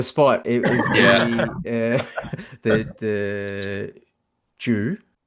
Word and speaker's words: Jui: It was the the Jui? So, Jui with a U. Jui.